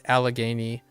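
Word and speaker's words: Allegheny: You would guess it's pronounced like alchemy but with a G. Okay. There there's an extra syllable here. Yeah, that that's the only difference. There's an al it's alagany. So this L is pronounced.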